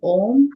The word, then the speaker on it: Om: the past two days, when we are chanting Om, we don't separate the syllables.